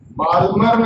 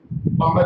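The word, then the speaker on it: Balmer: बाल्मर नहीं, L silent इसमें, बामर lines.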